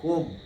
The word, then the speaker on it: comb: And comb, B is silent, comb.